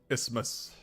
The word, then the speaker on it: isthmus: holy symbols just Terror panic and eventually death ismus it's because it doesn't look like Isthmus I mean you're just supposed to pronounce it dismiss but it looks like if